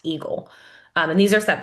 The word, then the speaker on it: AEGL: guideline limit um or the AEGL which is pronounced eagle.